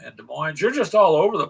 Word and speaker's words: Des Moines: That the S is silent, Des Moines. I don't care. It's Des Moines.